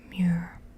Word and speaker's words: Muir: But this is a view south of Trail Crest from summit of Mount Muir. That's how you pronounce it. Muir.